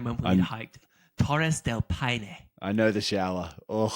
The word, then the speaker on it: Paine: Paine, no, it's Paine, bro. Come on. Paine. It's spelled like that, but you're Spanish.